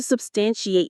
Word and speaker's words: substantiate: The stress is on the second syllable. Stan. Substantiate.